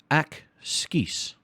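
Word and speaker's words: ekskuus: me to get attention ack skis but you say it faster excuse excuse me to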